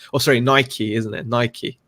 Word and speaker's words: Nike: Nike, not Nike. Say it right.